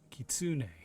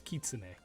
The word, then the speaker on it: kitsune: one such creature is the kitsune this guy's pronunciation is horrible he says it was a kitsune like that and it's kitsune it is how it's supposed to be pronounced